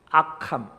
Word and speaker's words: 악함: 하나는 연약함, 약함, 또 한 가지는 악함. 발음을 잘 하셔야 됩니다. 약함, 악함.